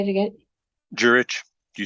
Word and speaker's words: Juritsch: Juritsch.